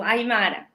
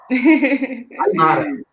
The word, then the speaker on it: Aymara: A pronúncia é essa mesmo? Isso, Aymara. Aymara.